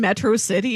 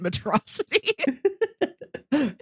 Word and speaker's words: Metro City: you there he keeps he keeps mispronouncing things like he they live in Metro City and he keeps calling it medrosity he doesn't understand our Earth tongue but he he goes